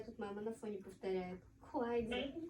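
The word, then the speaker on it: 筷子: Будем произносить как квайдза с четвертым тоном.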